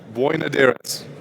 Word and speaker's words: Boinodiris: to the stage Phaedra boy nadiris thank you so part Greek not just Irish because he pronounced it so well thank you Aiden uh